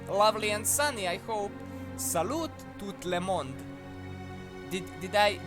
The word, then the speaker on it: salut: Also, T in salute. Oh, it's silent. Okay, okay. Damn, French and silent letters.